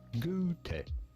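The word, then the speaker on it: Goethe: In German, his name would be pronounced something along the lines of ge. However, in English, it is usually said as go and like I I can't access my throat right now.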